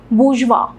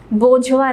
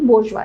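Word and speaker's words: bourgeois: उसमें जो सबसे रिच लोग थे, अगेन कॉमन मैन में, उनको इसकी प्रोनाउंसिएशन मैं आपको आज सिखाती हूँ, याद रखना, बोर्जवा, ठीक है, बोर्जवा, बोझवा नहीं, बोर्जवा, ठीक है।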